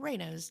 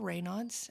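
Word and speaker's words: Raynaud's: Um because it's a person's name and he was French and it's pronounced reos.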